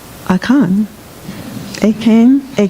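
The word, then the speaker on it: Akan: we light the 11th candle we honor aan pronounced aan a came a k as a path that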